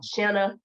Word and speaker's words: Shanna: share that pronunciation um Shanna rhymes with banana or Anna so um I just